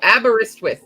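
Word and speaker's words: Aberystwyth: Oh, abberristwith is what how it's pronounced apparently.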